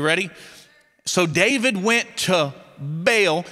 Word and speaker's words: Baal: So David went to Baal. Actually, the correct pronunciation of that word is Baal. But it sounds like you're stuttering when you say it.